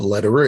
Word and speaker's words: Lederer: And my name is Lederer. It's spelled Led, like David, Erer. It's like Roger Federer, the tennis player, only with an L instead of an F.